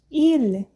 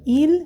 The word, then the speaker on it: il: Il, igual. Você fala, mas pronuncia igual que o singular?